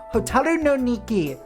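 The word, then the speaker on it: Hotaru no Nikki: Vita, Bangai O Spirits for the DS, and Hotaru no Niki, The Firefly Diary on Vita. That is, in fact, how it's pronounced.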